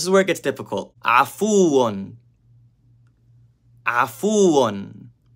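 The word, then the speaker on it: عَفُوٌّ: Afuun. Afuun. It starts with a, not a, not afuun. Afuun.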